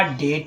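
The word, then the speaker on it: debt: तो गलत फ्रेंड्स डेप्ट है। सही क्या है आपका? सही आपका डेट है। कर्ज होता है। ठीक है? यहां पर आपका बी। बी क्या है आपका? साइलेंट है। ठीक है? आपका भी साइलेंट है।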